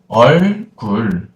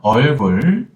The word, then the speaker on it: 얼굴: By the way, here, 얼굴. Yeah, 얼굴. We focus on the vowels. O vowel and U vowel. Big mouth motion. Yeah, exaggerate your mouth motion, okay?